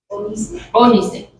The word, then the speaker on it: ónice: de látigo, piedras de ónice, acento en la O, ónice, y piedras de encaste para el efod y para el pectoral.